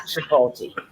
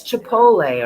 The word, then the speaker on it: chipotle: out from somebody cece that i say it wrong that it's not tripolti so for all of the people who are okay that is not how you say it no it's chipotle or something like there's no tea in it okay there's no tea